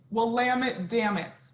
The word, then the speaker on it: Willamette: Here's a good thing. Willamette, damn it. It's a, you can't go wrong. It's a Willamette, damn it, and then you'll get it right. The Willamette Valley is famous in the wine world.